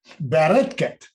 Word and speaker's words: Bareket: Give me the Israeli pronunciation. Bareket.